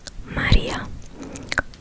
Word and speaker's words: Maria: In my native language, my name is pronounced Maria.